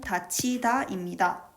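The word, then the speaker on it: 닫히다: 어간 닷과 전미사 희가 결합하며 거센 소리 대기와 구개음화가 연달아 일어납니다. 최종적인 발음은 다치다입니다.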